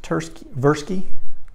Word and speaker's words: Tversky: He and his partner, I believe it's Amos Tversky, the T is silent.